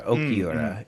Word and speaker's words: Okiura: I I said it wrong earlier. Okiura is is his name.